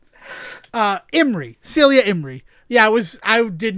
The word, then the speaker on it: Imrie: Helen Mirren, Pierce Brosnan, Ben Kingsley, Celia Emery. I don't know how to say her name. I also my mind is going blank on how it's spelt. Celia Imrie.